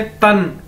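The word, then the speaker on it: 但: तन, ठीक है? इसे रन बोलते हैं, इसी तरह तन। डी को चाइनीज में ते की तरह बोला जाता है, तो ये क्या है?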